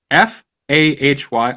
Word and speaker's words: Fahy: F H F A H Y.